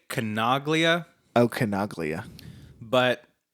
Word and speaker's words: Canaglia: effects and I said canal yeah see it's so phonetically it's canna glia Koenig Lia I'm gonna say Kanaga Lia okay no glue yeah